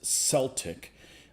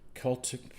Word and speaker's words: Celtic: And nobody breaks them, Rick, the Glasgow football team is Celtic. Irishness, Celtic people are Celtic. And Gaelic, the C is pronounced hard as K.